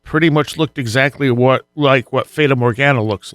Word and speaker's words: Fata Morgana: How do you pronounce it? What, the Fata Morgana? Fata Morgana, thank you.